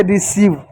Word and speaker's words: receive: ई किसी भी शब्द के अंत में आता है वो साइलेंट होगा, तो इसको क्या पढ़ेंगे? इसको पढ़ेंगे रिसीव।